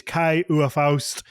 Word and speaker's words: Kai Uwe Faust: And then today our guest is Kai Uwe Faust. Kai, did I pronounce that right?